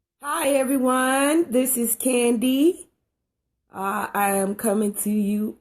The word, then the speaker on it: KanD: the pronunciation is um candy just like the candy um and so i